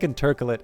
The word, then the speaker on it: intercalate: Obviously, I don't know if I believe I've actually heard Lottie pronounce it intercalate. I always keep saying intercalate, but I think intercalate is actually is the actual correct pronunciation, and I'm just an idiot.